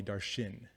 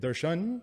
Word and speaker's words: Darshan: hated my name because everyone called me darshin darshin darshin why because my parents their parents pronounced it darshan and then they were